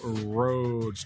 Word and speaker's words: Rhoads: he's just at Russell RADS two s's two L's and then RADS he's got to spell it the funky way r h o a DS is where you can